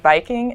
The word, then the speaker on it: Viking: The Old Norse word Viking is actually pronounced Viking with a W.